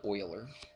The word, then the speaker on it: Euler: euler's number constant spoilers it looks like euler's but they pronounce it oiler okay oh it still